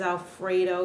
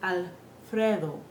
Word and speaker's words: Alfredo: our English accents so notice how the word Alfredo has the word Fred in it we don't say Fray we say Fred that is how we